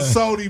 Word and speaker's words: Sodi: And that's Sody, SODI. Because Yes, sir. some of you motherfuckers is phonetically challenged.